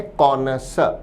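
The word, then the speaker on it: connoisseur: शब्द का उच्चारण है कोनस।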